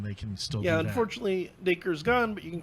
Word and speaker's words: Dacre: Stuckart yep sadly he missed a good chunk of that blade Baker Oh like like acre yeah I take her